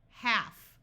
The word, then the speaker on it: half: most important exceptions H half notice the L is silent in this word c AF calf a